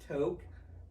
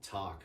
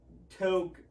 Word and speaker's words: Tok: togg just t okay t-o-k yeah because it's a town in alaska okay and um but nowadays everybody would pronounce it talk because then tick-tock oh yeah and that's what everybody would call him but um toke and i was just